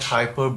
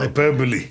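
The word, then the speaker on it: hyperbole: not epitome that's right not hyperb but hyper hyperboy yes and just one more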